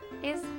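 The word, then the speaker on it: hermanos: and sister in Spanish ISO it starts with an H but you don't really pronounce the h do you have either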